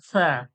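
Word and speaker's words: ثاء: এর নাম হচ্ছে সা হ্যাঁ দন্তস এর মত আওয়াজ হবে না ছয় এর মত আওয়াজ হবে কিভাবে জীবের আগালটা সামনের যে দাঁত রয়েছে দাঁতে ঠেকিয়ে হাওয়াটা সামনের দিকে বের হয়ে যাবে হাওয়াটা বার হবে জীবে লাগিয়ে সা বলবেন হাওয়াটা সামনের দিকে বের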